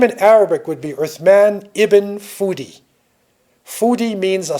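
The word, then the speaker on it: Uthman: Empire right they say us manly they say Osman but it's really earth man so in his name in Arabic would be earth man even foodie foodie means a scholar with man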